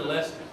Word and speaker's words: Leicester: Anyway, by the power injected in me by the fine city of Asheville and the altered state of North Kakalaki, I now pronounce Leicester Lester.